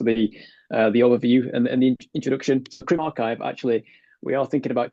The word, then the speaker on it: CrimRxiv: CrimRxiv, actually, we are thinking about changing the name because people do pronounce it incorrectly quite often. Because the RXIV is not that clear, is it? But it is archive, and it's the discipline's